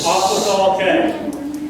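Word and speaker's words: Aquathol: Yes, sir, it's Aquatic K. Aquatic K. How do you spell that?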